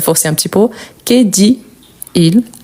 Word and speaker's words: dit-il: que c'est l'inversion mais surtout on prononce le t. Pourquoi ? Parce qu'après on a une voyelle, on a il, elle ou on donc que dit-il ?